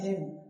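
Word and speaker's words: hymn: है लेकिन बोलना नहीं है, बोलना क्या है, हिम।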